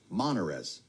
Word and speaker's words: Monarez: The CDC director, Suan Monarez, that's how you say her name, is Monarez, first syllable.